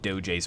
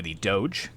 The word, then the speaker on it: Doge: and then we've got the DOJ's bodyguard or the Doge as I have now found it's pronounced the Doge is bodyguard